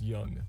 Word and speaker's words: Jung: for you guys okay oh it's young okay it's young anyways one of the theories on the website like the website puts out is quoting Young's psychoanalytic theory saying that